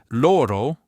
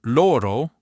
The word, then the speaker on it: oro: Closed O, lips more rounded. Open O lips more open, jaw lowered. Example, loro means gold with an open O and loro means they with a closed O.